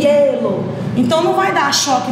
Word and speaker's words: hielo: É o som do E. Então, quando a gente pronunciar, ó, hielo, ó, você escuta mais o som do E, hielo.